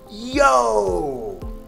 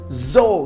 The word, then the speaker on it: dzô: The D, it doesn't have a slash through it. It's just a regular D. In the north, that is pronounced like z, zo, zo, zo. So in Hanoi, Sapa, and in the north, you're going to hear một hai ba zo.